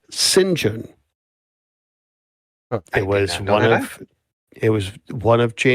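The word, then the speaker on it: St John: It's st and then you know space John but it's pronounced singen.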